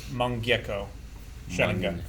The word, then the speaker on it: Mangekyō: I think it's pronounced Mangekyo Sharingan.